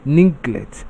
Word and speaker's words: neglect: Then neglect takes its stress on the second syllable.